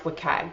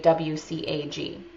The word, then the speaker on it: WCAG: Officially it's pronounced WCAG, but some people say WCAG.